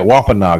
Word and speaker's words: Wampanoag: Yeah, Wampanoag. That's right. Oh, and I'm sorry. It's let's see, the leader of the Pokanakets, a tribe within the Wampanoag Indian Federation.